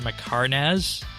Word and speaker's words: Mhekarnahz: Flesh Hatcher Mhekarnahz. I think that's how we're saying Pronounced it perfectly.